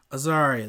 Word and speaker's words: Azaria: Azaria, that's how you say it.